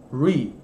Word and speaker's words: three: Então, TH é uma sílaba separada. Você fala o TH e emenda o resto, ó. Three.